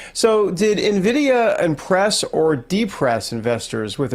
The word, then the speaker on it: Nvidia: Nvidia. Pretend there's an I. Nvidia. Yeah. Nvidia. Sorry. Okay. And and the whole AI craze, right? So, did Nvidia impress or depress investors with its earnings report last night?